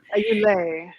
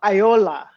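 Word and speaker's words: Ayoola: Yeah, and the accent seemed to fall. The stressor seems to fall on the final syllable, like on all of the names.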